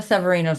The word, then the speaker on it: Severino: Joe Severino's a wacko. Yeah, and I know the proper way to say his name is Severino, but I like call him Severino just because it drives him crazy.